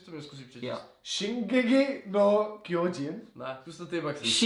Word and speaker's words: Shingeki no Kyojin: Ne, vy tam hledáte strašně moc jako výslovnost nebo něco takového. Shinkeki! Ne, přištěte to normálně, úplně normálně. Shingeki! Shinegi! No? Shingeki no Kyojin.